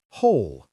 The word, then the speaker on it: whole: Whole. Same as hole in the ground.